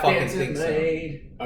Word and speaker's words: Mead: Made is M-E-A-D. That's how he pronounces his name.